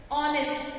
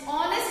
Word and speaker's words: honest: See, consonant letter but the H is silent.